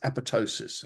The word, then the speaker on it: apoptosis: It's pronounced apoptosis.